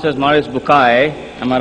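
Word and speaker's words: Maurice Bucaille: Mوريس Bookaى, pronounced as Mوريس Bookaى.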